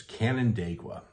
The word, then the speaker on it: Canandaigua: you say this and if if you actually look at it it's pretty much as it looks it's Canon daqua that is a Seneca